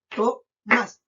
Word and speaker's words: Tomás: Tomás. También 2 sílabas.